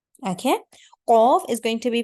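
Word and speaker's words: قاف: Say it, qaf. Pronounce the qaf by lifting the back of your tongue a bit more upwards towards the upper palate.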